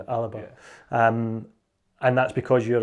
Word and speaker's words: Alba: Well, I call it Alba, but that's not the way you pronounce it, is it? Because I'm a southerner essentially. Yeah, that's all right. Yeah, it's supposed to be Alapa. It's almost like 3 syllables.